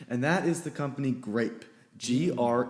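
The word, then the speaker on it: Greyp: that is the company grape gr e YP but it is pronounced grape like the fruit and if you don't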